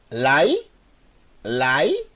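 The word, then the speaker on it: לילה: eu tenho que acelerar Então eu tenho Leila Laila como tem o Chevrolet aqui eu tenho uma sílaba e essa sílaba vou ter que ler mais rápido por causa do chefe e o final eu tenho mas formando a palavra Laila Laila que é o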